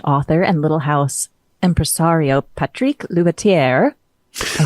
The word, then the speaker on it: Patrick Loubatiere: again is French author and little house empresario Patrick ler I said that correctly did I not is